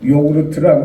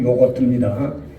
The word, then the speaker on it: 요거트: 요구르트라고 그러죠. 요구르트. 원래 발음은 요거트입니다.